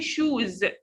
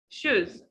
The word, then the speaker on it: shoes: Ooh, vowel. Don't say shoes. Shoes. Shoes. Okay.